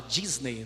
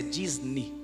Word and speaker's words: Disney: chamado wal Disney né interessante que a gente fala Disney né mas a pronúncia é Disney né Disney ó o Disney